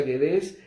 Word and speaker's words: Guedés: Se pronuncia Guedés, pero se escribe y le decía yo, "A ver, háblame de tu apellido y todo."